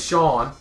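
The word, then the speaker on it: Shaun: But I hung out with Sean. It's spelled S-H-A-U-N.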